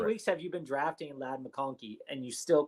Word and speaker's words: McConkey: How many weeks have you been drafting Ladd McConkey and you still call him McConkey? I always throw an L in there.